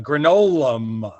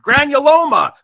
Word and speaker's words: granuloma: I'm not even going to, I'm going to pronounce it like Judah, a granola. What's the word? Granuloma.